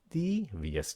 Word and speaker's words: devious: Devious, phát âm nha, devious. Các bạn nhấn cái âm đầu, devious.